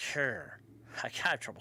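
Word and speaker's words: hir: is the subject and possessive pronoun and is pronounced hair I got trouble saying this maybe it's the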